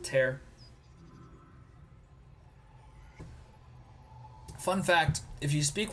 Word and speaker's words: Tyr: In Tyr's name, I pronounce it Tear.